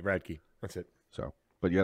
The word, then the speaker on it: Radke: Radke.